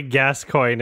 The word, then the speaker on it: Gascoigne: pronounce that boss's name surely gascoigne isn't how it's supposed to be pronounced right literally like that oh that's so weird